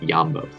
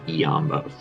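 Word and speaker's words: iambos: find out in those two dots right there it's not a mistake it's it's letting us know that the i and the a are indeed separate letters and they should be pronounced differently it's not yambos it's eombos let's count them how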